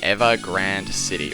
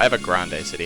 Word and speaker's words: Ever Grande City: which is the final city of the game ever Grande City or ever Grande City however you want to pronounce it I say have a grand city